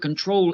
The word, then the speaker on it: control: The verb control is different because the stress is on the last syllable that has an L.